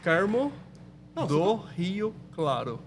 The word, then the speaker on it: Carmo do Rio Claro: Carmo do Rio Claro. Oh. Carmo do Rio Claro.